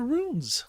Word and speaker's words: runes: speak Spirit using the runes and runes is spelled r u n s it rhymes with tunes and it's spelled like